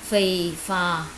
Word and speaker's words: phì phò: Phì phò. Các em lưu ý cho cô hai âm đầu là âm phờ.